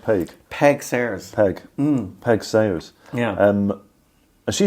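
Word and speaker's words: Peig Sayers: um about a lady called pigs is it pronounced Peg Peg Sayers Peg Peg Sayers yeah um she sounds like an incredible lady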